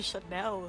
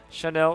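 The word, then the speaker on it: Chantel: dared to mention that it's a silent tea yeah yeah I'm faster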